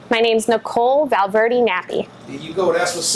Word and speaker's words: Valverde Nappi: So did I say your last name right, Valverde Nappi? You said it right this time.